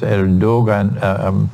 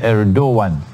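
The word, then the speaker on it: Erdoğan: uh uh his name is erdogan it's pronounced as erdogan prospectus el dogan but the pronunciation pronunciation is erdogan the prime the president of of turkey um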